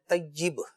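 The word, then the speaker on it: طیّب: طیب کہا ہے، طیب، اصل میں تلفظ ہے طیب، صحیح، یا کے نیچے زیر، زیر ہے، اصل یہ ہے، ہاں، تو طیب جسے ہم علمی زبان میں کسرہ بھی کہتے ہیں، تو عوام تو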